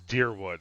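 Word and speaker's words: Dyrwood: this morning um that i have been pronouncing that wrong and it is deer wood and now that i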